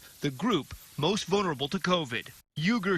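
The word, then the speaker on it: Uğur Şahin: UGUR SAHIN (PRONOUNCED OOH-GER ZAW- HEEN) AND HIS WIFE DR OZLEM TURECI (OZ-LEM TOO-RETSI) CO-FOUNDED BIONTECH AND DEVELOPED THE VACCINE. (PRONOUNCED BION-TECH) UGUR SAHIN, CO- BIONTECH THIS NEW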